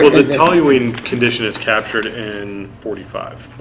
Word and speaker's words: toluene: You had a tap testing issue with Mark, and you also had a no toilamine. Toilamine, I'm saying it wrong. Toluene, right.